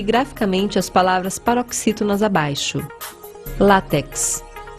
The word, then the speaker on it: látex: as palavras paroxítonas abaixo látex Ônix tórax ifen abdomen látex e não látex é látex agudo no ar paroxítona terminada em x Ônix a pedra preciosa